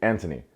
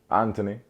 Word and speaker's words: Anthony: eldest son anthony but they don't pronounce the h so they say anthony so it's like jamaican but british anthony anyway if you remember